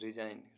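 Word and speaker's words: resign: ई knowledge मीस ज्ञान ऐसे वर्ड्स जिनमें अल्फाबेट जी साइलेंट रहता है आर ई एस आई जी एन रिजाइन रिजाइन मीस त्याग पत्र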